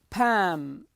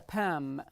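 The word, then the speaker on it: palm: these are fingers fingers Pam this is the pam pam the L is silent so we say Pam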